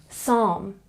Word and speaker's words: psalm: are some common examples Psalm this one also has a silent or softer L some people pronounce a